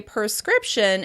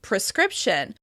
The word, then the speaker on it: prescription: You may hear people say "perscription" instead of "prescription," putting the schwa sound before the /r/ sound.